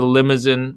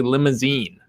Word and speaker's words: Limousin: from dancing goat distillery the limousine which i thought it was limousine it's actually limousine that's how they pronounce it i talked to